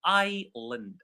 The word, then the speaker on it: island: So indeed it is pronounced as island. Island. The s is silent here.